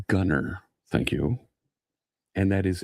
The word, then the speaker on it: Gunnar: It's pronounced Gunnar.